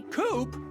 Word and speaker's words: Coupe: You can call me Coupe. That rhymes with scoop.